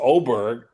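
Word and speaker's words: Åberg: he can putt is Oberg. This kid Ludvig. Yeah. Well, it's his first name is Ludvig and it's pronounced it's spelled A but it's pronounced Oberg.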